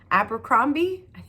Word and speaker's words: Abercrombie: is the first law Trilogy by Joe Abercrombie Abercrombie that's how you say his name this is